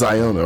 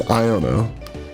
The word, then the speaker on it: Iono: of trainer Pokemon so IO iono is is Iona right sorry guys if you guys have been long time people on this channel you know I I have I mispronounce things all the time so it is iono I know I know